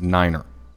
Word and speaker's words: nine: 5 is fife, F-I-F-E, and 9 is niner.